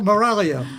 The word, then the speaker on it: Miraglia: dear you're uh irresistible danielle moralia and the g is silent but the fans aren't